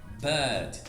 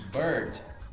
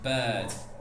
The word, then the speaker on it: bird: Nesse caso, a gente não vai pronunciar o R, porque lembra, só pronuncia depois de vogal. Então a gente vai falar simplesmente bird. Ao invés de bird, a gente vai falar bird, bird.